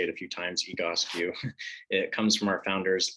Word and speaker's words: Egoscue: right so first off the goski method um pronunciation is always a little tough so you'll hear us say it a few times egos you it comes from our founders last name pete